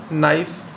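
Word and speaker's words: knife: हैं इसके बाद आपका के साइलेंट कब कब रहेगा जैसे कि नाइफ यानी चाकू नोक खटखटाना नकल यहां पे के क्या है साइलेंट है एल साइलेंट कब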